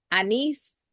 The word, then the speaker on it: anise: That and the anise. Am I pronouncing that right?